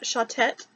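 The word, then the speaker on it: Shotet: Thuva and Shautet is how she pronounced them, I believe.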